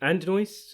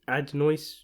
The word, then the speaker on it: Adonis: continuation of the rocky franchise focusing on and and noise is how you pronounce it ad noise johnson the son of apollo creed and his